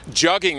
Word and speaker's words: jugging: Jugging rhymes with mugging.